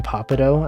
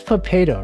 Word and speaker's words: Potato: potato clips on youtube every time someone pronounces your name papado i'm just like it's potato right like potato like potato clips is a pawn on potato chips when people say papado